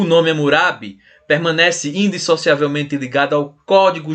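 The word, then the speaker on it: Hammurabi: e nascido em Babel hamurabi né na pronúncia babilônico foi fundador do Primeiro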